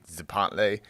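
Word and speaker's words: Tzompantli: T Z O M P A N T L I Zapantlay.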